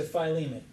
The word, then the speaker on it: Philemon: So Galatians to Philemon. From Galatians. Huh? Thank you for pronouncing Philemon correctly.